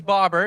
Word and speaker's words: Babar: The name's Bobber. It's pronounced like a fish and bobber, like B-O-B-B-E-R, but it's spelled like the elephant, if any of you are aware of the elephant.